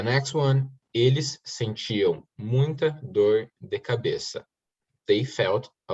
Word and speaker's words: dor: Eles sentiam muita dor. Muita dor. Dor is pronounced without R. No, you have to say the R. Door. Dor.